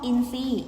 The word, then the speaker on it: อินทรีย์: ไป เขา มัน คบ อินทรีย์ อินทรีย์ ทร ออก เสียง เป็น ซอโซ่ นะ คะ เพราะ ฉะนั้น คำ นี้